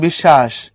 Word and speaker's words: বিশ্বাস: যেমন বিশ্বাস, এখানে তালব্যস্য নিচে বফলা থাকার কারণে বফলা ডাবল হয়ে গেছে, সরি তালব্যস্য ডাবল হয়েছে।